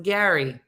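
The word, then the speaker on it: Gerry: doting father and grandfather Jerry pronounced Gary okay the g-e-r-r-y pronounced Gary what he don't even know how to spell um he married his high school sweetheart in 74.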